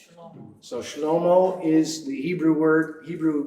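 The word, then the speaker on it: שלמה: Anybody remember what garment sounds like in Hebrew? It sounds like Shlomo. So Shlomo is the Hebrew name for Solomon.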